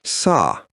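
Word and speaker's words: Sah: Hum is written with the letters H-A-M, and sa is written with the letters S-A-H. The H always sounds like J.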